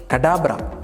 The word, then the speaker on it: Kadabra: Have you heard a word called 'ABRA KADABRA', used by magicians? From the word 'ABRA KADABRA' only.. ..he has chosen the name 'KADABRA'.